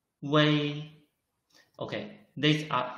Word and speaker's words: wei: Wei is written as wu, yi. The middle is omitted, but we should still read it wei.